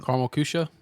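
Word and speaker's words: Karamell-Küche: Um, Carl Cusha.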